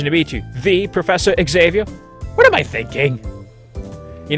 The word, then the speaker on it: Xavier: Excavia. Is that how you say it? We'll find out soon. She doesn't bother containing her surprise. Professor Xavier.